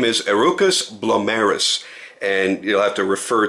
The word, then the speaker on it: Herucus Blomerus: the purpose of this video his name is arukas blis and you'll have to refer to the spelling